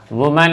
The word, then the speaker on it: women: वुमन है तो इसका WOMEN यानी वीमेन हो जाएगा। उच्चारण इसका ध्यान रखेंगे, ये वुमन है, MAN वुमन है, और MEN जब लगा देंगे है ना WOMEN तो वो वीमेन हो जाएगा, वीमेन।